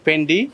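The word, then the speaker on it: Fendi: হয় ডিওর ডিওর এফ ই এন ডি আই ফেন্ডি ফ্রেন্ডি জি ইউ সি আই গুচ্ছি গুচ্ছি very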